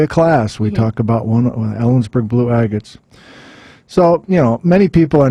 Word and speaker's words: Ellensburg Blue Agate: So we have to talk about the Ellensburg Blue Agate. Is that how you pronounce it?